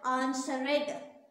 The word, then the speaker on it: answered: Answer, but when they say ed here, they call it answered. It is not answered, it is answered. This e is kind of absent here, it is silent.